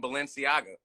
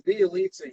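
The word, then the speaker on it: Bjelica: Niggas is calling him Balenciaga. Of course. And, you know, it is funny that we can pronounce Balenciaga. Balenciaga for three. It's Bielitsa, you piece of shit.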